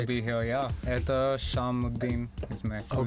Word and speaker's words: Ethash Sham: Did I pronounce nice it right? To be here, yeah. Ethash Sham is my full name, but you can call me Ethash.